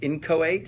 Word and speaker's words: inchoate: And it's pronounced inchoate?